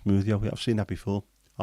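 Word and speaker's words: smwddio: Ironing is smoothio in Welsh, pronounced smoothio.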